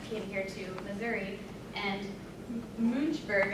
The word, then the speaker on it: Münchberg: here to Missouri and muj burg I think is how you pronounce it can anyone correct me on that is that about right that's about right okay and just do